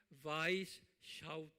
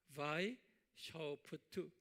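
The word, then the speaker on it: Weishaupt: 이 그룹을 만든 분이 아담, 이게 독일 이름이기 때문에 W는 V 발음하죠. 그래서 아담 바이샤우프트 그래요. 아담 바이샤우프트.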